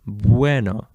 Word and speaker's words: bueno: don't say buo you you don't pronounce every single letter here separately you don't say that you say buo Bueno okay so U changes too